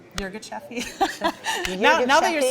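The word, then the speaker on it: Yirgacheffe: Well, I think it's Yirgacheffi.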